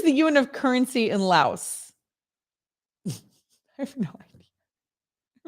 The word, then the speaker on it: Laos: And is that how I pronounce that? Is it Laos?